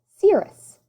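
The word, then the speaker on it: Sirius: one of these special dogs my name is pronounced cirrus cirrus is the name of the brightest star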